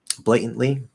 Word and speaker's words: blatantly: but anyway blatantly okay the first t if you try to say blatantly he blatantly did it blatantly blatantly uh see that was a blate that was a blatant lie blatantly it doesn't sound too bad if i try to drop that first t but i have to like force myself to not stop it it's like really